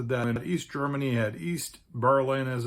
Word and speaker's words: Berlin: Germany's capital and largest city with almost 3.7 million inhabitants is pronounced Berlin.